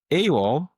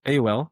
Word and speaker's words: AOL: Next, we have Awol. Is that how you say it? Awol. AOL. A AOL.